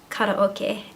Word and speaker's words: karaoke: Well, I actually say karaoke, and I think that's because my family's Japanese and that's how they all pronounce it.